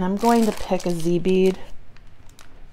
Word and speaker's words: dzi: This really spoke to me, these 10 millimeter shell beads, and I'm going to pick a Z bead. And it's spelled DZI, guys, Z beads.